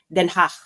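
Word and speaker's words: Den Haag: ang pronunciation non ay denach okay repeat after mehach hindi ke yon ha so imagine niyo kayo ay nag nag nage-expell ng plema in a very very light way once again hach so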